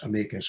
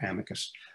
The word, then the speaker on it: amicus: brief as i say it's pronounced both ways amicus or amicus um is otherwise called